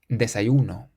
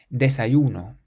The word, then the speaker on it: desayuno: Then we have a word that ends in a vowel. This means that we have to stress the syllable before last. Desayuno. Desayuno. It means breakfast.